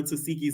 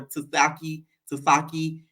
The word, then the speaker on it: Tasiki: I used to call her Tasaki. Now I know how it's Tasiki.